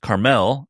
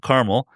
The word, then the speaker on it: Carmel: Born in New Orleans and raised for a long time, I think is what pronounced Carmel, not Carmel.